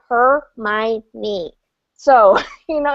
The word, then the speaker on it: Hermione: the first try because I'm a Shakespeare nut and her name is Shakespearean so I was like her my knee so you know it's